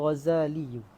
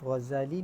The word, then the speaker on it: Ghazali: Bawah cara baca Ghazal tu boleh baca dengan tasydid zai wa bi tasydid zai ataupun zai al-mu'jamati nisbatun ila Ghazal. Bawah tu boleh baca Ghazal dengan tasydid ataupun baca dengan takhfif.